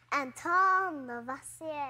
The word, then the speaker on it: Lavoisier: That guy has a fancy name, but I think I need to pronounce it like this. It's French. Anton Lavoisier.